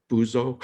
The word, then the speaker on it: buzo: at in Spanish, it's buzo. Okay. I'm probably saying it wrong, but I always laugh at that. Actually, you pronounce it well, and it's funny.